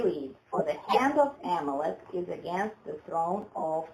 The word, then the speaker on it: Amalek: For the hand of Amalek, is that how you pronounce it? Amalek? No, Amalek. Amalek.